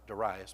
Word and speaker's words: Darius: But he's thrown in the lion's den under Mede King Darius, or Darius. I like Darius because I actually know a guy named Darius, and that's how he pronounces it.